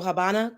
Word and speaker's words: Habana: and the ASI so Habana Cuba the V is silent which is a b I'm sorry the V makes the B sound so Habana Cuba so whatever you